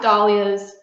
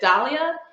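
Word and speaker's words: dahlia: studied so long um I pronounce dollas be because of the word Gala I say I'm going to go to the gala I don't say I'm going to the Gaya or the gala but in Dalia Society there are people that pronounce it Dalia and daia in the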